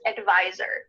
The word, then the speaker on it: advisor: to as a tax advisor. Make sure that when you say the word advisor, there's a Z sound there where the S is.